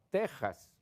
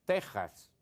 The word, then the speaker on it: Texas: lo el mismo caso, puedes escribirlo con X, pero al pronunciarlo es Texas porque es del español.